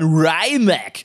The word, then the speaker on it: Rimac: die Kommentare geschrieben hat, da steht aber Rimac, das spricht man Rimac, weil Nico Rosberg, der hat sich ja den ersten von den 150 Limitierten des Nevera gekauft und der sagt auch Rimac.